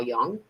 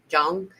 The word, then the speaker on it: Jung: founded analytical psychology named Carl Young Jung you people pronounce it differently, Ju um had